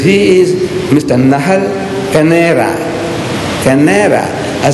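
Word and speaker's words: Kaneira: He says, K-A-N-E-I-R-A, Canera, not C-A-N-E-R-A, Canera.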